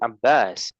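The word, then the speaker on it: عباس: wa Abbas panjang. Abbas. Wa Sekali lagi.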